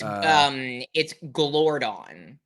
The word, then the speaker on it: Glordon: Gorman, but Gorman was is it Gorman or Gorman? I always get the name wrong. It's Glordon. Glordon, thank you. Glordon. I think it's Glordon. Glordon. Glordon. I think you're right. I think it's Glordon. I think it's pronounced Glordon.